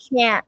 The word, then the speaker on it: can't: So if you pronounce it surely, like it's considered as can. So like can, can't. So that Yeah. actually we Okay. don't hear T here. Just we actually pay attention to the length of the word.